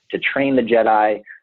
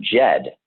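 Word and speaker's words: Djed: it comes from the root word jed and jed is spelled d-j-e-d and the jed represents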